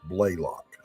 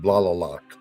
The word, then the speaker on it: Blalock: And it's pronounced Blalock. Blalock. Sorry about that. No problem. Everybody gets it wrong on the first try. Welcome to my world, Doc. Yeah. The first time Good Stuff saw my name, he pronounced it Blalock.